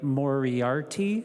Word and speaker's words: Moriarty: And thanks again to Mary Moriarty is how you pronounce her name for her work on this.